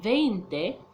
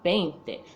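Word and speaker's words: veinte: No, it's not 20 or 20. It's 20. The V in Spanish, it sounds like the letter B.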